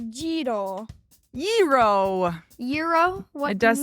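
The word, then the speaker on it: gyro: no this is g yr o but it's pronounced jro yo Euro what it does sound like used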